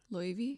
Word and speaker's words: Loewe: Loewe?